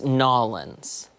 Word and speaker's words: N'awlins: I believe it's Nolans. See, I just feel like I can't really sell it if I say it like that.